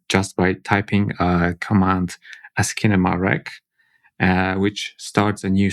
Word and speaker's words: Asciinema: So Asciinema, aka Asciinema, that's how I pronounce it, Okay.